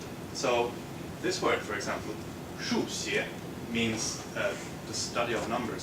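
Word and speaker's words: 数学: So this word, for example, 数学 means the study of numbers, so mathematics. But if you happen to sort of slip on some tones and some pronunciations, you might get 输血, which means blood transfusion.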